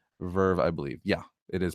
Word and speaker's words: VRV: 2001 Verve is pronounced Verve, I believe. Yeah, it is pronounced VR. It's Verve. That's how you pronounce it. Verve, spelled VRV, not VER.